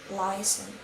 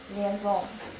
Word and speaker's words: liaison: For example, in American it's liaison. In British it's liaison.